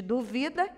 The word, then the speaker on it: duvida: Olha a diferença de duvida e dúvida.